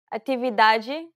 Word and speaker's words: atividade: Now pay attention to the T sounds. Sorvete, sorvete. Atividade, atividade.